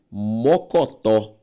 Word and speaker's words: mocotó: A sílaba tônica de mocotó, tó, uma palavra oxítona.